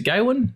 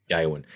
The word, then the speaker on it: Gawain: Is it Gawain? Is that how you pronounce it?